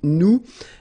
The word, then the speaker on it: nous: So now let's see nous, and nous goes like I-O-N-S, okay, and it should be pronounced ion.